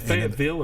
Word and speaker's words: Fayetteville: Did I say Fayetteville? No, you said it. You said it right.